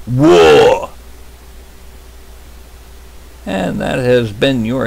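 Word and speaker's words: Waaagh: W-A-A-A, however many A's you want, G-H, is pronounced WAR. Not WAG. It's WAR.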